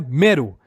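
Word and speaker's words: Mello: caso se pronuncia Nia Melo que se pronuncia mero e o rilo que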